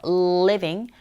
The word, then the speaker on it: living: 현상도 일어나는데 뒤에 나오는 living 발음하실 때 이 L 사운드는 항상 을로 시작한다고 보시면 돼요. living, living 이렇게 혀끝이 밑니, 앞니 뒤에 붙었다 떨어지는 느낌 living, living, make a living 하시면 돼요.